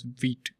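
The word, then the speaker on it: Vite: You can go to guide over here and you can see read more about wheat and you can see this is pronounced as vit vit or ve t right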